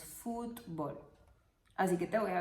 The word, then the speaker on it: fútbol: un poco esta palabra fútbol es una palabra de dos sílabas en cuanto a la pronunciación nosotros nos pronunciamos fútbol así que te voy